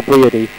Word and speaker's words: Briody: Is it Brody or Briody? Well, I believe it is spelt B-R-I-O-D-Y, but James.